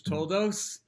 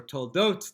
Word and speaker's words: Toldos: So you can probably guess why I am picking this one for Parshas Toldos, this week's Torah portion of Toldos or Toldot, depending on how you pronounce it.